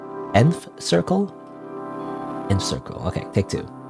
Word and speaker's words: Nth Circle: your pronounce by way I want to say Ninth Circle but it's not ninth right it's nth nth Circle in circle okay take